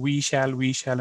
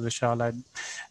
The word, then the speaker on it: Vishal: They kept saying, we shall. And I'm saying, okay, we shall overcome. But there's a bit of a change in how you pronounce my name, and that worked. I mean, I'm saying that you can tell that I like to be called as Vishal, or I like to